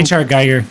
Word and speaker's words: Giger: H.R. Geiger.